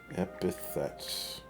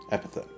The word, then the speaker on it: epithet: saying this word correctly epithets no i was pronouncing it wrong inventive or descriptive phrase expressing quality characteristic the person or thing mentioned epithet okay so remember kids it's epithet not epitaph habitat this thing that goes